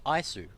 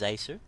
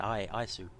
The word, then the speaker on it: Isu: I thought it was Asu. Although it doesn't make... I think that's an I sound. Isu.